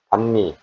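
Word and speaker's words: bánh mì: 동 정도 선에서 가세를 줍니다 방 방미는 그 반미 또는 베트남 방미 이렇게 발음을 하는데 뭐 방미도 2만 동 2 5천동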